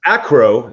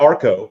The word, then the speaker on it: Acro: The nice Acro, not Arco. See, I said it right this time.